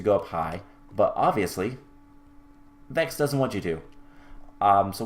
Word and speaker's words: Vechs: Vechs is also how to pronounce Vechs, by the way. Not Vechs or Vix or Vechs.